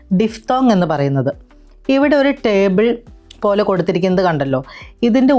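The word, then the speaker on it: Tee: ഉദാഹരണം ടീഫ്. 2 എ വരുമ്പോൾ അതിൻ്റെ ഉച്ചാരണം എ എന്ന് വേണം ഉച്ചരിക്കാൻ. സേയിലെ എ എന്ന പോലെ. ഉദാഹരണം ടേ, ടേ.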